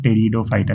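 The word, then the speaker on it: Pteridophyta: थैलोफाइटा, ब्रायोफाइटा और टेरिडोफाइटा P silent है।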